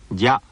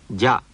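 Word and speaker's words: じゃ: しゃ、しゅ、しょ、じゃ、じゅ、じょ。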